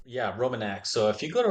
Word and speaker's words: Romanax: you the Roman how do you say it Roman a yeah Roman a so if you go to our website www.